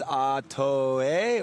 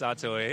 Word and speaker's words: Ato: we in the islands, Atoe, or what? It's Atoe. Everyone gets it, you know, they say Ato because that's what it looks like. But yeah. You pronounce every single vowel, Atoe.